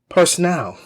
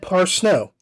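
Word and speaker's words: Parsneau: is proper and correct i mispronounced andrea parsno's name i said personnel personnel and it is said par snow you can see the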